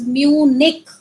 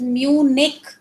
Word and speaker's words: Munich: It is Munich, right? अगर नहीं समझ में आ रहा है तो दोबारा बोल लो मेरे साथ. It is Munich. Mu and Nick.